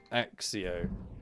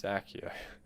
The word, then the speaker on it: Accio: which really annoys me axio when it's not pronounced axio it's accio it's stuck in my